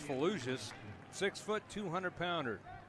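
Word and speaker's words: Fellouzis: that was a good play by number 32 Braden fallujus Fallujah spelled f-e-l-l-o-u-z-i-s pronounced fallucious six foot two hundred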